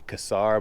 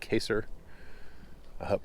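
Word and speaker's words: Kesar: have is the caser i used to say kasar but i was corrected by indian folks that said it was caser probably still pronouncing that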